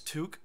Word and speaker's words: toque: Our toque. I just found out that's how you pronounce that word. That's toque. Canadian style.